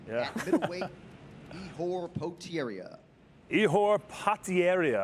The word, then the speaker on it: Ihor Potieria: Ihor Potieria, I believe is the correct way to pronounce his name. I don't even think the great John Anik got it right.